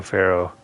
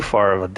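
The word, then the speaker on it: Ferro: leader the cleanest was joe faro spelled f-e-r-r-o and the bad guy in horizon zero dawn was ted pharaoh it's f-a-r-o but they pronounced it the same so i'm just thinking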